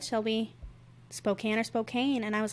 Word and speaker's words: Spokane: Good old Spokane. Which I learned was can, because it looks like cane.